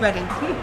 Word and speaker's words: Reading: No, it's Reed. It's Reading. It's really actually the history of place names in England and how the names have changed over the years.